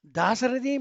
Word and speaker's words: Dasarathi: Dasaratha is King Dasaratha. Dasarathi means Lord Rama. Just a pronunciation that changes the entire meaning.